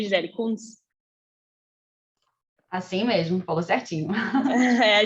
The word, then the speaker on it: Gisele Kunz: É assim mesmo que pronuncia, Gisele Kunz?